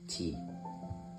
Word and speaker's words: Thai: person that has been interviewed for this video is Jace's grandmother, Thai, pronounced T, or Kathy as her American name.